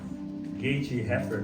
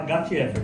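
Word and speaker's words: Gate-Héfer: Para mim acho que é Gat-Hefer. Gate-Hefer, não. Eu vou falar Gat-Hefer, tá?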